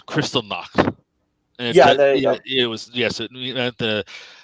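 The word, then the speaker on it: Kristallnacht: was a night called christian glottal or in i believe it's in austrian meaning the night of the broken glass correct your pronunciation a little bit yeah it's a crystal knock yeah yeah it was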